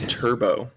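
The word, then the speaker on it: Turbeaux: vest guy that was turbo turbo spelled t-u-r-b-e-a-u-x mind you i made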